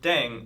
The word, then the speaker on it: 땡: The pronunciation of dang is similar to thang, which is the slang of thing in English.